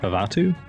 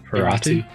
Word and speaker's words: Ferratu: How do you say that? Favatu? Ferratu. Yeah, Ferratu? it's an R.